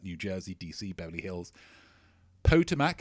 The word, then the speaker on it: Potomac: Potomac is actually pronounced Potomac.